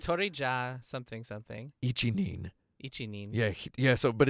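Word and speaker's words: 一人: So in other words, the old Japanese word for alone is hitori. Hitori. And that's how they decide to pronounce this combination of Ichihito, Ichibito, okay. right? Hitori ja something something. Ichinin.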